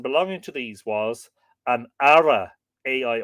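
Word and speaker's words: aire: classes a person belonging to these was an ARA AI r e or chief Kings have been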